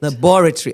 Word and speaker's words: laboratory: And beyond that, she says, "Look, the syllable the the emphasis is on the second syllable, laboratory."